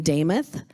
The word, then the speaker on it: Demuth: hint on my name, Damuth is how it's pronounced, my last name. If you remember Joe Namath, it rhymes, okay?